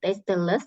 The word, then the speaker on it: tasteless: Cara bacanya bukan tasteless tapi tasteless ya. Less ini artinya without.